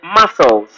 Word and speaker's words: muscles: There is C there. Though it's silent.